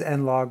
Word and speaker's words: N-Log: from the z7 i'd expect the z6 as n log recordings to be similar now although it's pronounced n log that's really a shortened version